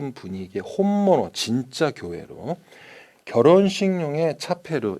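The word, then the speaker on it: チャペル: 자, 이곳은 역사, 레키시가 느껴지는 무슨 분위기의 혼모노 진짜 교회로 결혼식용의 차페르, 우리식으로는 채플이라고 발음하죠.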